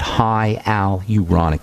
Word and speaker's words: hyaluronic: Certainly there's high aluronic acid. high aluronic acid is how you say that in the skin and